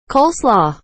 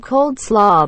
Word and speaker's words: coleslaw: doesn't matter how many times i correct her coleslaw i've heard cold slaw before but my brother's ex used to say cos law it bugged the out of